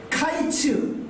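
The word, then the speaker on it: קַיִץ: 여름 과일은 히브리어로 카이츠입니다. 끝은 히브리어로 캐츠입니다. 카이츠, 캐츠. 뭔가 이 발음이 유사하잖아요.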